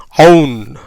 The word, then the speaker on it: own: ஓனா ஓனே போட்டிருக்கேன், டபிள்யூக்கு இவ், என்னுக்கு இன்.